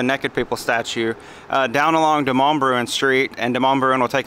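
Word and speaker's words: Demonbreun: This is pronounced Demonbruen. So now we're walking from Music Row, which is back that way, back past the Naked People statue, down along Demonbruen Street, and Demonbruen will take us over into downtown Nashville.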